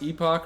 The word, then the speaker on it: Epoch: Anyways, Conor Conway is the owner of, is it pronounced Epoch or Epoch? We do Epoch. They're both proper, but Epoch is how we chose to.